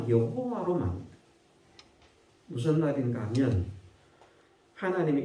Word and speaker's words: 여호와: 어떤 사람들은 야훼가 옳은 발음인지 여호와가 옳은 발음인지 모른다. 그런데 히브리어 밑에는 발음하는 발음 기호를 표시를 해놨거든요. 그 발음 기호의 표시에 따라서 여호와와 관련된 사람들의 이름을 읽으니까 여호와로 나온다는 말입니다.